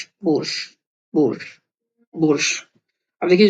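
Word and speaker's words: борщ: ये आपका हो गया बो, र, बोर्श, बोर्श, बोर्श। अब देखिए जो श है यहाँ पे पूरा प्रोनाउंस नहीं हुआ है, श का श की जगह बोर्श, और आधा प्रोनाउंस है बोरश की जगह बोर्श।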